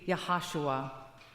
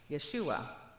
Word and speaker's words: Yeshua: Or in Greek would be pronounced Yesus. In Hebrew it would be Yahashua. Yeshua, Joshua.